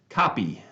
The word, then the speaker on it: Koppe: James Kopp is the first one I see, Koppe, pronounced copy.